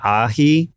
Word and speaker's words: Ahee: Like if I type in the word Ahee, it's like Ahee. Right. You know, right. But if I type in the word A-H-H-H-E-E-E-E-E-E, then it sounds more like Ahee, That's you know, correct. like how I pronounce it.